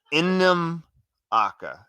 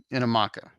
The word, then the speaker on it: Namaka: So it is Innam Aka. The emphasis is on the first two syllables. Inamaka.